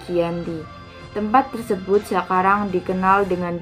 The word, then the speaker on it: Giyanti: Dalam pelafalan Belanda, ia tersebut sebagai Yanti, dan sebagai tertulis, ia terbaca sebagai Giyanti.